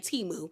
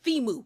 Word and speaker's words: Thimu: Because the way that Stacy was saying it, I thought she was calling the man Timu. But then I was like, there's an H there, so shouldn't it be Thimu? And they were like, I was like, maybe I'm saying it wrong, but then I went, and they said, no, it's Thimu.